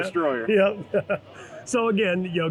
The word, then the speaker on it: Dstroyr: Now, do you pronounce that Dstroyr? Yeah, And Dstroyr. Not yeah. Destroyer.